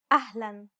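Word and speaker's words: أهلاً: the following words loan ahlan unlike the English L the tongue is ever so slightly flatter and straighter in Arabic don't worry if you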